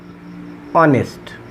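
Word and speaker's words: honest: এখানেও অনেস্টের এই এইচটা উচ্চারণ হচ্ছে না, এই ওটা উচ্চারণ হচ্ছে, অর্থাৎ অ এর মতো উচ্চারণ হচ্ছে, যার কারণে এর পূর্বে আমরা আর্টিকেল বসাবো কি এন।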